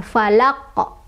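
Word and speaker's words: فلق: Cara bacanya adalah dipantulkan, dan karena kubro, jadi pantulannya besar, falaqo, falaqo, seperti itu ya.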